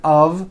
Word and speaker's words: of: with an F we pronounce the word of with a voiced V I know this sounds crazy but it's true for example Statue of Liberty and notice how I connected the word of with the word liberty of Liberty you see of is voiced here's another example it's made of glass or it's made of wood it's not a f wood with an unvoiced F it's all voiced and it's all connected